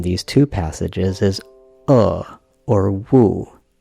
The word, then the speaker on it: 惡: The most controversial character in these two passages is or wu. That's one character read with two different pronunciations. According to the translation above, it's wu in passage 4.3, and it's in passage 4.4.